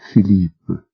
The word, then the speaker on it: Philippe: "Well, Philippe." She pronounced it the French way, and very nice it sounded too.